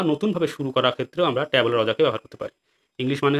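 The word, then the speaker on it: tabula rasa: উচ্চারণ দেখো, ট্যাবুলা রজা।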